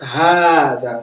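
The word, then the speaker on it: هذا: So it tells you hada is pronounced hada. So you see, it put the alif clearly. Oh, yeah. So, but it is written without the first alif.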